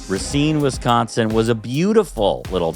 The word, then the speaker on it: Racine: things so rine Wisconsin Ren was it's R Rasin nope we're going to say it right we're going to respect the people of this town rine Wisconsin was a beautiful